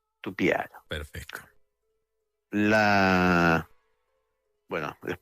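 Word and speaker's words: Tupyara: By the way, Tupiara is spelled with a "y". Tupiara.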